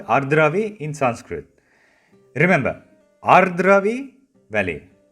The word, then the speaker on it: Ardravi: If I slow it down, it's Ardravi. You need to roll the R sound a bit.